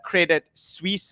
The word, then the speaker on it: Credit Suisse: Swiss bank so uh Credit Suisse is how you pronounce it um and yes I'm